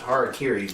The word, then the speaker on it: harakiri: I was like, well, it would be pronounced harakiri, but it's also supposed to be called seppuku.